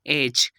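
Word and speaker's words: edge: पहली एग्जाम्पल है हमारे पास एज। यहाँ पर देख सकते हैं कि डी से पहले ई आ रहा है जो कि हमारे पास वॉवेल है, और डी के बाद जी ई आ गया, तो यहाँ पर इसकी प्रोनाउंसिएशन हम करेंगे एज।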